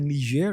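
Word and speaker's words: Niger: g r it's called nir in it's a French pronunciation that's how I use it so there was a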